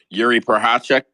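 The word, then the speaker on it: Jiří Procházka: say his name y'all from chz chz Republic Yuri pachek yes Yuri pachek got his re he got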